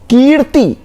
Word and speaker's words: कीर्ति: कीर्ति, क में छोटी की मात्रा नहीं, क में बड़ी की मात्रा, कीर्ति, कीर्ति, त तो